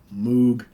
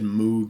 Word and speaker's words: Moog: Hammond organ, grand piano, clavinet, pipe organ, Moog. I said Moog synthesizer for many, many years, and until I was corrected a number of years ago, say, no, it's pronounced Moog.